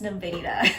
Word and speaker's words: Nevada: Um and there is a town that's um spelled the exact same way as this and it's pronounced Nevada.